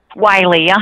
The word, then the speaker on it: Wylie: All right, so that's how I pronounce the name. Wylie, E.W.